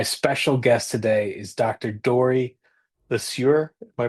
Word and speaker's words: Dorie Le Sieur: Dory Lassur. Am I pronouncing that correctly?